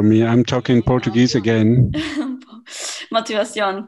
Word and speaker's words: motivación: Motivación, puede ser, claro, correcto. Right, motivación. It's the right way to say it.